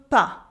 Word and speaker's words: pas: And now, je ne veux pas. I don't want. Here the S at the end of pas is silent.